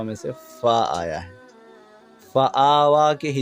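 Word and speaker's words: فآوى: کھڑا زبر وا، فآوا۔ اس یا کو ملانا نہیں ہے، نہ ہجے میں ملانا ہے نہ پڑھنے میں ملانا ہے، وہ بس لکھنے میں آئے گی، پڑھنے میں نہیں آئے گی، تو فآوا۔ من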